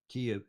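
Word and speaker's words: Kyiv: they've all had an office in in uh kia in kiev as i've understood the pronunciation in ukrainian as opposed to russian kiev we used to say but it's ukrainian company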